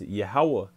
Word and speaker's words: Yahweh: His true and proper name is Yahweh. Okay, that's how you say his name.